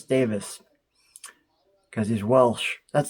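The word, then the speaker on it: Davies: I'm like oh it's Davis because he's Welsh that's not just a British English British American difference in English this is a Welsh thing so yeah it's Davis that's why we just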